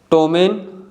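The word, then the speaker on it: ptomaine: इसका correct pronunciation है receipt. Fourth one है टोमेन।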